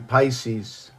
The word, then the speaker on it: Pisces: So the 3, okay, as Gemini in Pisces. Perhaps we're talking about the breath here. I keep looking at my picks. It's not picks, it's Pisces.